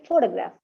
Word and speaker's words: photograph: write only t Okay four the graph four four is the strong syllable there okay others weak syllables so for the graph okay photograph but first one is photography okay so these actually use